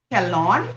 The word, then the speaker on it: Kelon: Kelon. Did I say it right? Caleb? Yeah, that's Kelon.